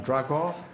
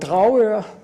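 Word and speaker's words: Dragør: We'll now leave Finland and go to Denmark, and I will ask Erik Vind to come and speak on Dragor, an outstanding example of a community effort to preserve a historic town.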